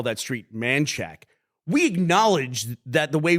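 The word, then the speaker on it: Manchaca: man and people in Austin call that street manack we acknowledge that the way we pronounce it is stupid like that's not the way that's written and we don't make fun of people who read it as Manaka because that's the way it's written on the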